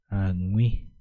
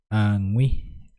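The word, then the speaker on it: aguĩ: cerca yo diría Ai angui angui es cerca angui ui se pronuncia de esta manera creo que sería uno de los fonemas tanto difícil de pronunciarse angi angii Entonces es cerca cerca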